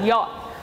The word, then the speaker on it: yacht: apparently this says yacht that's right that says yacht a few years ago i was at the